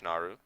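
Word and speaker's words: Naaru: the Naru is it Naru I think it's Naru the double A confuses me I prefer to be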